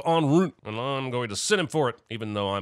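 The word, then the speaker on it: en route: minutes out in route he said end route instead of on Route well I'm going to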